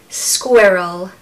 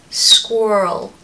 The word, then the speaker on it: squirrel: number five squirrel squirrel squirrel now the American pronunciation of this I love I just I don't know why I just absolutely love how they say it they say squirrel squirrel but we say squirrel